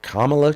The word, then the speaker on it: Kamala: Here are 10 great career options for Kamala to consider. Oh, by the way, I'm going to call her Kamala because that's what my sister-in-law, who is named Kamala, that's how she pronounces it.